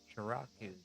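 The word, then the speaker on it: Sharaku: Researching Edo period publishing, and one of the most intriguing mysteries is Shiraku, the ukiyo-e artist. I think that's how it's pronounced.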